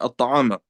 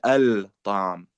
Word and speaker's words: الطعام: So that's why we say at-ta'am, we don't say al-ta'am. Okay, like ash-shams, you don't say al-shams, for those of you who know.